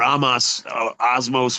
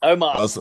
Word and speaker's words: Omos: look bad because he was such a, or Osmos, whatever. How do you say his name? Omos.